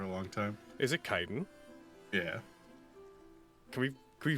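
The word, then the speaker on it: chitin: like armor it is I've always pronounced that chitten like chitus yeah I said that too for a long time is it kiten yeah can we can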